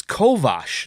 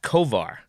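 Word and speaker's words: Kovář: another striking thing was it's kovash not Kovar yeah I read something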